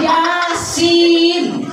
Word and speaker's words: Yasin: Dibaca itu ya asin. Tulisannya ya asin. Dia bacanya Yasin. Ya, tapi tulisannya ya asin. Kalau kita baca Latinnya ya benar ya asin. Nggak bisa kita baca Yasin, kudu mutabat talaki dengan guru ya.